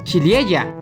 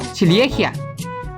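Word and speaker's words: ciliegia: algo de la palabra se pronuncia chilie ella pero no silejia Pero por qué pues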